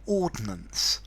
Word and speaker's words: ordnance: area um of unexploded ordinance okay unexploded bombs now in the UK there are a set of maps and and these are Ordinance survey two syllables no I and the Ordinance survey